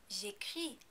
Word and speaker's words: j'écris: Also, you know not to pronounce the S at the end of the word because there is no vowel coming after it. J'écris.